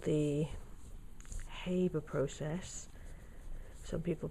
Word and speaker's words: Haber: in the gaseous state this is called the haber process some people pronounce it harbor process and it's used to make ammonia and